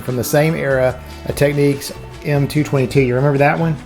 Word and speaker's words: Technics: uh techniques right techniques I've heard a lot of YouTubers provide pronounce this techniques but I found this ad in a 1972 stereo Review magazine and it has a pronunciation key and I've always said techniques so I'm sticking with techniques another great